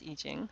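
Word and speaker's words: I Ching: n g but i c i n it's pronounced eing however um the book of changes consists of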